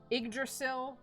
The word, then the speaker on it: Yggdrasil: everything else, it, like, Yggdrasil is the correct pronunciation for it, and I can't, like, not think that in my head, even though I heard Yggdrasil first in this game, and I don't know which one makes me more broken.